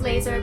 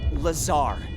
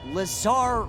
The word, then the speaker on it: Lazar: Rangers, this is Laser Blazer, a researcher in our R&D department, and its sales liaison. It's Lazar, actually, accent on the czar.